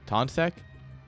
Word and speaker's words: Toncek: is Mr rabbi tontchak I actually have no clue how to pronounce his name still taunt SEC because it's t-o-n-c-e-k tonsek um yes finally someone